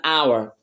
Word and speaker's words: hour: vowel sound I now here we go an hour even though hour starts with a consonant letter